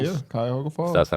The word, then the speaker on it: Cuyahoga Falls: My grandpa's from, I always butcher the name, but Cuyahoga Falls. Yeah, Cuyahoga Falls.